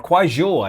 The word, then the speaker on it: Kuaizhou: Because with 30 minutes after Delta IV NROL 91 lifted off, X-Pace, yes, X-Pace in China launched a Kuaizhou 1A, or Kuaizhou, is how you say that, 1A, with Xi'an 15 and 16 satellites going into sun-synchronous orbit.